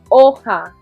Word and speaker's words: hoja: Okay, the H is silent. Hoja.